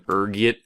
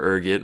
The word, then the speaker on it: Urgot: next is this one there's a few different ways you can pronounce it depending on your social standing raging from urget to ELO being the disheveled poer I am I prefer Urgot rolls off the tongue you know Urgot is